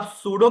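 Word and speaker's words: pseudo: पास सूडो ठीक है सूडो की स्पेलिंग बता रहा हूं पी एस यू डी यू P silent है इसका ठीक है अब करना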